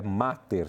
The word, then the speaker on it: Mater: quero falar para vocês a o mosteiro aqui é Mater tá gente Mater Christie em Guaratinguetá eu pronunciei aqui Master mas é master é